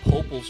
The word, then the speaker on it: Poep: We got Paul. We got Cameron. We got Mia. You said my name wrong. It's the choice. Uh, no. It's Pop's Choice.